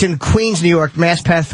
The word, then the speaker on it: Maspeth: It's in Queens, New York, Maspeth, or how you say it? Maspeth.